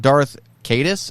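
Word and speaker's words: Darth Caedus: became the Sith Lord Darth cadis I think is how you say his name and an attempt to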